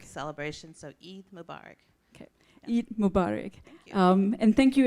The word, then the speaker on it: Eid Mubarak: a proper way to say is it happy barukh Mubarak celebrations of Eid Mubarak okay Mubarak and thank you everyone for attending